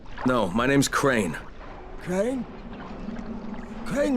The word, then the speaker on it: Crane: Crane rhymes with train, and brain, and sane, and grain, and rain, and plane, and the other kind of plane, and...